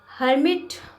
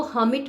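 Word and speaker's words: hermit: Now fifth sentence, हर्मिट, आर, इसको हमिट बोलना है हमें, आर जो इसमें साइलेंट रखना है।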